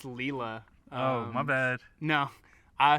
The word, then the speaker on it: Lila: youtuber named her name her name's leela actually it's spelled l-i-l-a yeah it's leela oh my bad no